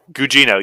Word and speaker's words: Gugino: carla gugino so you figured out how to pronounce her name gugino yes um so it seems like everything i